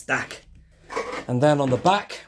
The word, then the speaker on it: Dak: Luke but no it's Dak and then on the back which rhymes with DAC you got this all